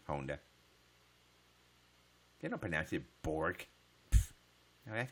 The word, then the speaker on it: Honda: hard it's really pronounced it's not Honda does anybody know how hard is really pronounce people here say Honda all the time get Honda you know they pronounce it in Japan onda did open a Seaborg